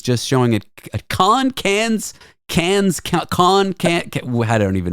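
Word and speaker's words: Cannes: I'm always correcting her saying it's can Mom not can's yeah she always like yes yeah it's it's can the can film festival um I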